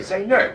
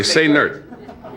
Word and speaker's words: Sainert: Now, why do you say the accent is on the last syllable? He likes it that way. Sainert. It's like say nurse, only Sainert.